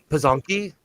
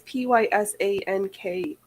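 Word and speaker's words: Pysanky: Oh, Pazanki? pasankis. It's Pysanki.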